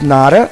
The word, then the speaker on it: not a: Então, there is not a, there is nada. Então, a gente pode pronunciar there is nada. Esse not com o a fica nada, nada.